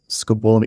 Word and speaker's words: scopolamine: in Colombia okay have you ever heard of scopolami I think that's how you say it no balamine scabolamine scopolamine it's a drug is it the one that